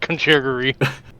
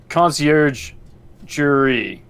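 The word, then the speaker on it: Conciergerie: yeah it's a lot funny to call it country agree and it's concierge jury concierge concierge and it's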